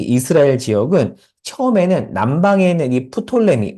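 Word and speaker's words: Ptolemy: 지역은 처음에는 남방에 있는이 프톨레미 보통 이제 영어로 한 피가 묵음이 톨레미 하는데 어 남방에 프톨레마이오스가 다스립니다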